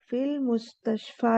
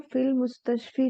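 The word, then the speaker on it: في المستشفى: इसको फिल मुस्तशफी नहीं पढ़ेंगे, इसको फिल मुस्तशफा पढ़ेंगे। और यही रूल इसमें समझाया जा रहा है, इसको इसीलिए समझना है इसमें कि इसमें मुस्तशफी नहीं होगा, मुस्तशफा होगा, क्योंकि एंडिंग हो रही है अलिफ मकसूरा से।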